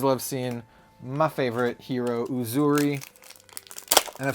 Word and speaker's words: Uzuri: what's up always love seeing my favorite hero uzuri and I've said it before say it again that is how you pronounce it is it is a Swahili name